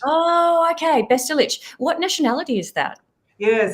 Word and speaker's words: Bestulich: The exact pronunciation is Bestulich. So it's got the ich sound at the end. Oh, okay. Bestulich.